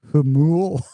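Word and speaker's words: Jamul: Jamal is pronounced Hamul.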